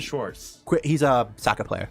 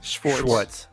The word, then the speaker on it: Schwartz: Schwartz.